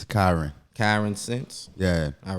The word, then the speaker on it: Kyransense: it's um it's Karen Karen since yeah all right so basically like like common sense but with me oh okay but with